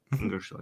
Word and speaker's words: Ingersoll: Ingersoll, am I pronouncing this correctly? Ingersoll, yeah.